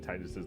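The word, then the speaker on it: Tidus: But I hated how Dissidia is pronounced Zidane and Titus's names.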